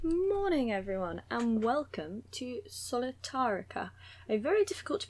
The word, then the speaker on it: Solitairica: in love with recently i did spend a lot of time thinking it was called something entirely else because i'd added new letters and was calling it solitarctica which sounds like a new continent